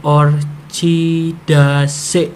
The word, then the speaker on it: Orchidaceae: Ini Orchidaceae itu kalau dibacanya itu menjadi Orchidaceae. Jadi Cae itu jadi bacanya C.